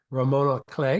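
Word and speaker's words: roman à clef: a ROM Romona clay you don't pronounce the F Ramona clay because you actually it's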